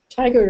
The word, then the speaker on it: Tigard: Tigard or Tigard, I've heard it pronounced both ways, but I have to talk to someone from Oregon.